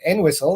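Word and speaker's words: Entwistle: and uh yesterday uh Nigel I headed to en whistle and I said it right because a townsperson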